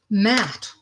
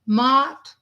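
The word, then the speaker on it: Maat: Matt. All right, Justice. And it's funny because I just crossed her page not too long ago. So, some people pronounce Matt, some people pronounce it Mott.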